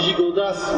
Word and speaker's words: Gigondas: Alors Père Léopold, il va aller à Avignon, c'est plus facile à prononcer que Carpentras, surtout que on dit Gigondas, mais on dit Carpentras, et pourtant il y a un S, donc je comprends très bien.